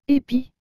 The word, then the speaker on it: épi: tableau et le mot épi vous avez remarqué que j'ai bien dit épis et non de pi cela parce que le eu est accompagné de cet accent aigu c'est pourquoi que nous